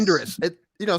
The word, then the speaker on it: Endress: It looks like Endress. Say it like it looks, man.